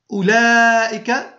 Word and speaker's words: أولئك: وبالنسبة لأولئك تكتب الواو، لاحظوا معي، تكتب الواو بعد الهمزة ولا تنطق، وتمد اللام، هذه اللام تمد لائك اللام دون كتابة الألف، أي تنطق هكذا أولئك، لكن لا نكتبها هكذا وإنما نكتبها بهذه الطريقة أولئك.